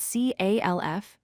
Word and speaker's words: calf: The word calf is spelled C-A-L-F, but we say it as calf. Again, the L is not heard.